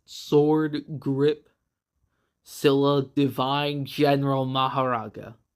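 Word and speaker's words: Mahoraga: 8 Sword Grip Scylla Divine General Maharaga. Or Makora, I think that's one way you can pronounce it. I've always pronounced it Maharaga, and even if Makora might technically be correct, I'm sticking with Maharaga, which has the adaptation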